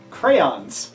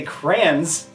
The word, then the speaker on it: crayons: fit in here's one crayons is the correct pronunciation I say Kranz half the time I don't you said